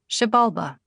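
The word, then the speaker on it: Xibalba: Also in Mayan pronunciation X is pronounced like the English sh. For example, ishul is pronounced ishul and shabalba is pronounced shabalba.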